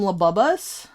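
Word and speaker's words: Labubu: I think Genie keeps pronouncing them Labubbus and I haven't corrected him yet cuz Labubbus is good too, you know.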